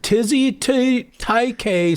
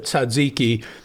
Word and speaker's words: tzatziki: And so, he's like, if you take chicken and put it on a tortilla and add taike sauce instead of tzatziki, some insane pronunciation that you've never heard.